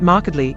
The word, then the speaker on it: markedly: from the fact that markedly is always pronounced as a three syllable word there's no euphonious way